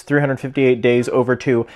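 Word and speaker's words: 358/2 Days: This is a Japanese exclusive Kingdom Hearts themed DSi that launched alongside Kingdom Hearts 358 Days Over 2. Yes, that's how you actually pronounce it.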